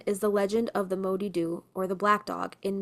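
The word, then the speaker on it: Moddey Dhoo: In the aisle of man is the legend of the modu or the black dog in mans. Mans also styled phonetically the ma doo or mada.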